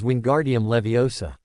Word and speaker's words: Wingardium Leviosa: The incantation is wingardium leviosa. The movement is a swish and flick. She demonstrated her wrist moving with precise grace. The emphasis is on the gar syllable.